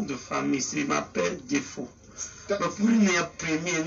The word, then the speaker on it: Defo: Mais ben, lui il prononce comme les blancs. Moi je sais qu'on dit de faux.